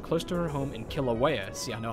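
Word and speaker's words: Kīlauea: in a village close to her home in kilauea see i know how to pronounce that word decided to try to placate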